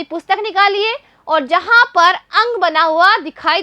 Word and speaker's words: अं: लगाई जाती है और इसका उच्चारण हम करते हैं नाक के द्वारा। और बच्चों इसमें न की ध्वनि हमें स्पष्ट सुनाई देती है।